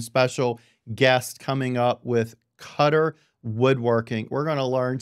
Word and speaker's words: Koetter: Smith and then you're with cutter and that's pronounced c-u-t-t-e-r so that's cutter and then where exactly are